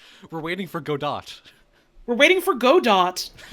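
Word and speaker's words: Godot: Number two, uh, if I'm in it, I have to keep insisting that it's pronounced go dot. We're waiting for go dot.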